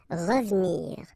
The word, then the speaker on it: revenir: Well, here it's exactly what we've been saying, because it's the second syllable, so you get re and then ve and nir, but then clearly you don't pronounce it, so you get revenir, revenir.